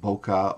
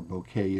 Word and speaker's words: bokeh: beautiful shot at an ISO of 100 wonderful bokeh or bokeh if you prefer that pronunciation here's a another shot at an ISO